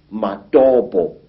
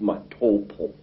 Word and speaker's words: Matopo: And one of these parts of Africa, say, is a remarkable place called the Mountains of the Round Rocks, Matopo, wrongly pronounced Matopo, in Zimbabwe.